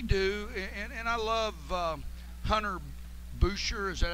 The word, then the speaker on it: Boucher: They do, and I love Hunter Boucher.